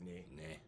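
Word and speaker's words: nae: Like, no is spelled N-A-E, and it's pronounced ne. Ne.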